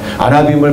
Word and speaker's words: 아나빔: 아나빔을 발음을 잘못하면 포도가 돼요.